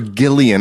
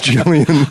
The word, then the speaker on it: Jillian: I called her Gillian. I'm like, I've known her for 5 years. It's Jillian.